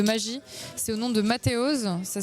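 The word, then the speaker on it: Mateoz: des tours de magie, c'est au nom de Mathéoz. Ça s'écrit M-A-T-E-O-Z.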